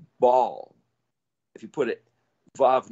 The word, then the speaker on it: Baal: Well, if Bet Bet is a gateway, what's Bet Lamed? It would be pronounced Baal.